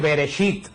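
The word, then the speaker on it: בראשית: no es eso no es hebreo el 106 bereshit bereshit se dice que ver es la palabra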